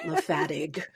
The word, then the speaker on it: Le Fatigue: Lefattig.